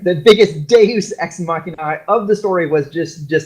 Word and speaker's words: Deus ex machina: I got the nod from Kai, I said it right. The biggest Deus ex machina of the story was